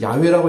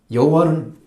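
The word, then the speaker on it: 야웨: 써놨어요 그래서이 글자를 만들었지만 사실은 야외라고 읽긴 하는데 이것도 정확한 이름은 아니다 학자들은 그렇게 얘기합니다 그러니까 알 수가 없는 거예 하나님으로 그래도 야외가 가깝죠 여호와는 더 멀죠 왜냐면 16세기에 만들어졌으니까 그것은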